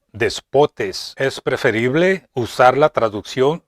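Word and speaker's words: δεσπότης: Es la palabra griega que se pronuncia despotes.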